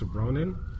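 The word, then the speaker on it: Ronon: He was in Stargate Atlantis, and he plays a character named Dex Ronan, which oddly enough rhymes with Conan.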